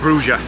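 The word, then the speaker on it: Brugge: So whereas we pronounce it as Bruges, here it's called Bruges.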